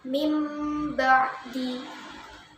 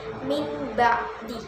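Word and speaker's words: مِنْ بَعْدِ: Mim ba'di amadam ba'ida kira mim barara. Jadi bacanya bukan min ba'di, tapi mim ba'di. Yang nun sukun tadi diganti dengan mim, kemudian disertai dengan dengung ya, baca mim ba'di amadam ba'ida kiramin barara.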